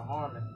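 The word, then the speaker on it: Harman: produced by yeah harmon produced by harmon that's how you pronounce is uh the the producer's name is h-a-r-m-a-n so that's another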